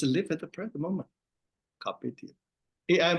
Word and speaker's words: carpe: Era carpe diem. Since it's the Latin word, C-A-R-P-E, is pronounced as a carpe. But AI pronounced cup, not pe.